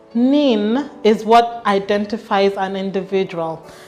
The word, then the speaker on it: NIN: days turn around time the national identification number pronounced nin is what identifies an